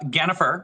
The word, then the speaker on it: Gennifer: up I've got uh Gennifer which is spelled like Jennifer but with a G she's a member she's